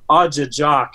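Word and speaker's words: ajijaak: So the word for crane in Ojibwe is pronounced Ajajak.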